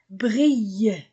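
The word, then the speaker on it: brillent: o m o trompette brille y e n t du verbe pluriel ne se prononce pas brille.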